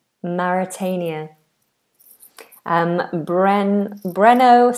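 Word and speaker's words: Mauritania: So here we have So we have Maitius and then we have Maritania. It looks very similar to Maitius but has a completely different pronunciation. Maritania. Maritania. Maritania.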